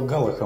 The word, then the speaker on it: галаха: слово галаха может использоваться с разными ударениями ивритская галаха имеет ударение на последний слог или шино привычное нам